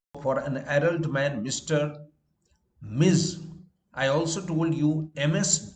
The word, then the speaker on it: Ms.: an adult man mr miz i also told you ms dot should be pronounced miss not to confuse it with miss ms dot pronounced miz is for addressing a woman it can be used